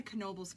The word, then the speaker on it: Knoebels: And yes, you do pronounce the K, as weird as it sounds. It's not Nobles, it's Knoebels.